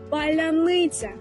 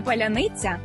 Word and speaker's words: паляниця: загальнонаціональний пароль тобто шибулет паляниця який росіянам зовсім не підде чому Бо в російській вимові немає м'якого звука ц наприкінці слова і носії там Несвідомо